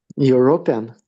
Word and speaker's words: European: European. Uh, third syllable is stressed pian. Uh, European.